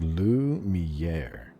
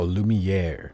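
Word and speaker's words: Lumière: It's pronounced Lumiè. Oh, Lumiere in English.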